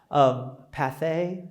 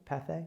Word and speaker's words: Pathé: And there was a guy there named Path. I'm probably mispronouncing that. P-A-T-H-E with a little diddly thing over the E. Pathé, would it be? Pathé?